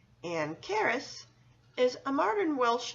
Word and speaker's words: Caris: It works well because Caris has a rhythm similar to standard middle name Marie. Both names have 2 syllables with a stress on the second syllable.